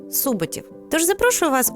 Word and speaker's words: Суботів: Наголос на першому складі: суботів.